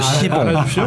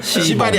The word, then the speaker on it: 시봉: C가 아니고 시봉. 발음을 잘해주세요. 시발이 아니라 이런 데서 시봉, 정말로 시봉.